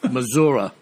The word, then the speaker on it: Missouri: uh mispronounced Missouri so remember that it's mazura all right like Clint Eastwood and Outlaw Josie Wales how about a little